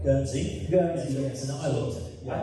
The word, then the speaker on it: Guernsey: From a small little town called Gurney, am I pronouncing it right? Guernsey.